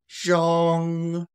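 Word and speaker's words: 中: Okay, so that one is going to be zhong, zhong. Pronunciate the ZH. Zhr, zhr, zhr, zhong, zhong, zhong.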